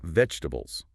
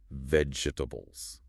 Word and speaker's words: vegetables: She explains how it can look tricky and learners might pronounce every syllable slowly. Vegetables. And she points out that in natural spoken English, it's often faster, smoother, more like three sounds.